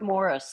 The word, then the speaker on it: Maurice: Right, and then you find out later, oh, Maurice Gibb. It's pronounced Morris. Morris?